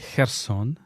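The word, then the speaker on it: Херсон: linguistique pour nos auditeurs que la ville s'appelle Herson et par personne la ville s'appelle harkis Tania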